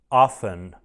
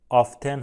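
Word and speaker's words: often: میشه alز alز alز معمولاً میشه یولی یژولی اغلب میشه آفن آفن آفتن هم میگن آفن هم میگن هر دو تلفظ درسته دوستان هیچ کدومشون اشکالی نداره یه کلمه دو تلفظیه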